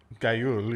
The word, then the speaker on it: Guile: Gayul, yeah. That's how you pronounce it. It's a Gayul.